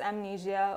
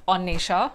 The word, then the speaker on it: Annesha: the women's Cricket podcast with onnisha that's the correct pronunciation of my name and kudos to ananya